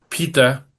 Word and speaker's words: PETA: Hemos visto ayer como sobre los aposentos papales encima de la iglesia de San Pedro, pita, eh, ¿no?, que se escribe Peta, ha proyectado imágenes antitaurinas en el Vaticano.